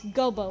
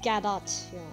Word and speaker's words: Godot: well dinner prosecutor gobo it's not gobo it's gadot godot but i can't get uh so i'm sorry i'm sorry if you hate my pronunciation but i call it gaba and i know supposed to be gado i know i know